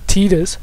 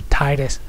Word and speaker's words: Titus: had a thing of Titus there or tetus whatever Titus that's how it's supposed to be pronounced I don't care how